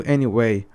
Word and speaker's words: anyway: The stress is on the A.